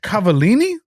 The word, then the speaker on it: Cavallini: to this because I don't know how to pronounce his last name. I was gonna say, is it someone problematic? Cavallini.